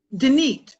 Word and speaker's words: Denise: Denise.